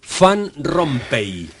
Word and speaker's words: Van Rompaey: entonces decile por favor fan rompe Cómo se pronuncia exactamente su apellido que se escribe van rompaey noo se pronuncia si en puridad en la lengua flamenca ser fan con f Pero bueno estamos en